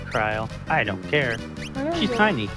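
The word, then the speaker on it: Krile: I know it's pronounced Kryl.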